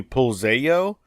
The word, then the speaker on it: Pulzello: And so with Hispanic last names, the 2 L's at the end are pronounced like a Y, so it would be Puzello.